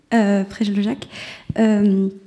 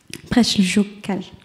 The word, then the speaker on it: Preljocaj: En fait, ça se prononce comme c'est écrit, exactement. Il n'y a aucun piège.